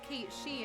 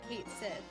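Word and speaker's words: Cait Sith: That's why it's pronounced Kate She and not Kate Sith.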